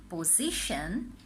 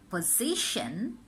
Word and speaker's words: position: what we have is position pollution and introduction often we make mistake and say position pollution and introduction follow the movement of my lips its Shen not shown so its position pollution introduction repeating it